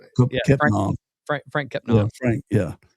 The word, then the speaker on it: Kepnang: So he's probably played against Diallo and how you pronounce his name? Kepnang.